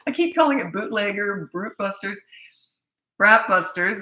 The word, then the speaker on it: Bratbusters: I keep calling it bootlegger, Bratbusters.